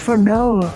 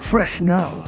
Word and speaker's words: Fresnel: It is pronounced Fresnel, not Fresnel.